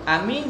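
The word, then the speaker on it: آمين: Amin, baca dengan mat wa takhfif. Mat tu kat mana? Mat tu pada a.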